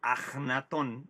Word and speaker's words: Akenatón: muy probablemente el faraón akenatón o ajenatón realmente ahora nos dicen los egiptólogos que deberíamos pronunciarlo con la jota más ajenatón más que akenatón aunque el nombre se